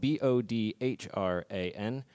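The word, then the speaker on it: bodhrán: This is a bodhran, spelled B-O-D-H-R-A-N, because that's Gaelic and there's silent consonants.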